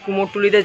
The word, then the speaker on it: কুমারটুলি: কুমারটুলি, কথ্য উচ্চারণে কুমোরটুলি, পুরনো ইংরেজি বানান কুমারটলি।